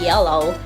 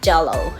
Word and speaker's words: yellow: So I pronounce, like, instead of yellow, I say jello.